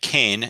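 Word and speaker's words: Kean: Number 1, in parts of New Jersey, Keene, New Hampshire, and Kane, New Jersey, are pronounced the same. The fact that the New Jersey school is correctly pronounced Kane will make it easier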